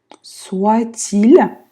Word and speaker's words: soit-il: Ainsi, опять звук да, что-то между носовым и ainsi, soit-il, здесь будет вообще Т обычно не читается, но здесь будет связка. Soit-il, не забывайте, L мягкое.